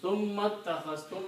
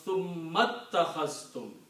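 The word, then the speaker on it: ثُمَّ اتَّخَذْتُمُ: So summa takhastum, when you combine with the summa, then you do not pronounce this alif, it becomes hamzatul wasl.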